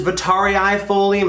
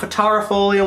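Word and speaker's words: vittarifolium: Yes, it is vitariifolium. It's not vitarifolium. We've been saying it wrong. We've been spelling it wrong. There's two I's in there.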